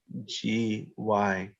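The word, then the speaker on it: ज्ञ: This letter here is pronounced generally in India as GYA.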